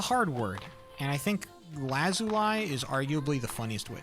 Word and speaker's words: lazuli: La Zuli. Lazuli. I think I think it's Lee as opposed to lie. I think the I'm pronouncing the I very intentionally when it should be the E.